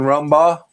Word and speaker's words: Rumbaugh: I Jason Rumba, correct? Is that how you say your last name? Yeah, you said it right. I'm glad I got it right. Uh, says, "My name is Jason Ramba.